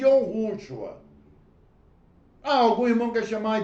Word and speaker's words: יהושוע: Eu chamo de Yahushua.